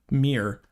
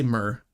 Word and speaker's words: Myr: set scared me because apparently I butcher the m i butcher the word mirr I say myrr I butcher the word mirr every time it I utter it and unfortunately there are